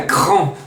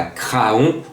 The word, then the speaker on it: Craon: et je suis à Cran. Oui, puisque ce lundi, le quintet se dispute à Craon, ou plutôt à Cran, lorsqu'on prononce bien le nom de cette ville.